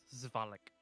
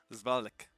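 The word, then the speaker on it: Svalich: pronounced Zvalik. Zvalek.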